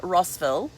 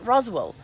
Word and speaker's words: Roswell: So I've been calling it Rossville because that's how it's spelled, Rossville. But somebody from Georgia today, when I was on a Facebook Live, corrected me and said it's pronounced Roswell.